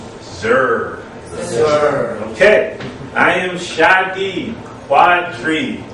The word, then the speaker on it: Shadeed: I am Shadi Quadri. Say that five times fast. It is unofficially the most mispronounced name in the entire English language.